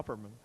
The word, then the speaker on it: Opperman: could we have your name and could you spell it please same as yours what the other name oh uh Opperman OPP ER m a n you've got you